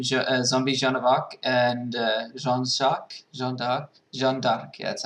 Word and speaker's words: Jeanne d'Arc: The winner was actually a tie between Zombie Jeanne of Arc and Jeanne d'Arc.